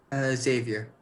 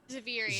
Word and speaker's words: Zaviri: How do you pronounce the sister? Xavier. Xavier? No. Zaviri.